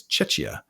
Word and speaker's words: Czechia: And then there's Rust Haven in Czechia, if I'm pronouncing that right. I don't think it's Chechnya. I think it's Czechia.